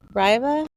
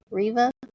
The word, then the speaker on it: Reva: all right and then we have Reva Riva R Reva they went two ways with that we had some Ras and some Rivas yes so it's Reva or at least I pronounce it Reva yeah okay then we've